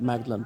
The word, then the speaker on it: Magdalen: Magdalen, I know it looks like Magdalen, pronounced Magdalen.